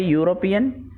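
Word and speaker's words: European: اگلی مثال ہے اے یوروپین، ایک یورپی۔ یہاں پر بھی یوروپین جب ہم اس کا تلفظ کرتے ہیں تو یہ واول ساؤنڈ نہیں ہوتا ہے بلکہ کانسوننٹ ساؤنڈ ہوتا ہے، اس لیے اس سے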